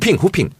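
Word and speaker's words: 富平: 후핑. 후핑이 원래 발음을 하면 뭔지 알아요? 모르겠는데요. 부평입니다. 제 고향 부평인데? 네. 부평에서 태어났어요. 인천 부평. 예. 네. 산시성 부평. 그걸 후핑이라고 그래요.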